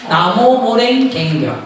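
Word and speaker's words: 南無妙法蓮華経: 그걸 일본식으로 발음하면 나무모랭갱교. 나무모랭갱교. 나무모랭갱교를 우리나라 발음을 하니까 남묘호랑갱교.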